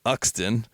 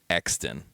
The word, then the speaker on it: Euxton: He pronounced it, as I just did, Uxton, which is better than the usual mispronunciation of Euxton, but I feel I just have to inform you that it is actually pronounced Exton, with a silent and superfluous U.